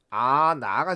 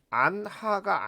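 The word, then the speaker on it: 않아: 그러면 발음이 아나가 된다는 얘기죠. 이때 발음이 안하가 아니란 얘기예요. 왜? 히읗 탈락이 일어났기 때문이죠.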